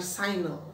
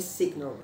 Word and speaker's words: signal: Nah, bacanya signal bukan signal. Nah, saya pernah dengar orang Indonesia bacanya signal, tapi sebetulnya signal.